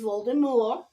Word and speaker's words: Voldemort: not living so if Voldemort yes it is Voldemort the t is silent it is a French word it means flies from